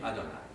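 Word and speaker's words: אדני: est question de yah qui est le mot NOMON peut pas prononcer il est écrit juste audessus adonï on dit adonï voilà alors qu'est-ce qu'un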